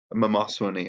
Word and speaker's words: Mamoswine: start dealing it out so Mamoswine is mamasa when he actually is the correct pronunciation but my loss when